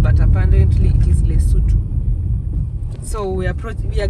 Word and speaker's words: Lesotho: the capital city of L we used to pronounce it as Lodo but apparently it is Leu so we approach we are getting into another